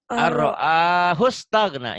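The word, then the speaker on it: أَن رَّآهُ اسْتَغْنَىٰ: Karena nun mati ketemu ro, maka nun matinya jangan Dibaca.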